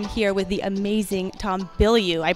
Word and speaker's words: Bilyeu: Hey guys, it is Lisa Lewolt, and I'm here with the amazing Tom Bilyeu. I pronounced it right this time, right?